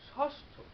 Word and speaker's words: ষষ্ঠ: যেমন যদি বলা হয় ষষ্ঠ, মূর্ধন্য স, আবার যুক্ত বর্ণ মূর্ধন্য স ঠ, ষষ্ঠ। আমরা উচ্চারণ করি কি তালব্য স্বর মতো, অর্থাৎ এখানে মূর্ধন্য সেটি উচ্চারণ করলে আমরা তালব্য স মতো, তালব্য স, তালব্য স হসন্ত ক্ষয়কার ষষ্ঠ।